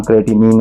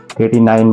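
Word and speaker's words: creatinine: Workout करने के बाद जो वेस्ट मटेरियल होता है जिसका नाम क्रेटिनिन होता है, क्रेटिनाइन बोलते हैं, प्रोनाउंसिएशन अपनी अपनी होती है।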